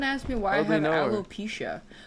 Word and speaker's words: alopecia: me why I have alopecia also that's how you pronounce that I pronounced it as alop pikia my whole life alopecia aloia that's how